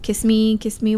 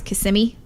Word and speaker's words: Kissimmee: like it in Florida the people try and pronounce the kiss kiss me kiss me whatever when it's Kissimmee I just like Manchac over here you told